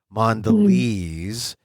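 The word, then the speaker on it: Mondelēz: nde l and then they have the accent over the e or not accent but the you know the the mark over the E so you know it's a long e mandes lez mandes they they're the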